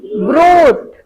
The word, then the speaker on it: brute: BRUTE, ब्रूट। RU, यहाँ पे spelling mistake हुआ है लगता है।